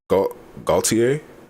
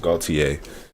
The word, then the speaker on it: Gaultier: I think it's pronounced Gaultier, not Gaultier, because it's like Cartier.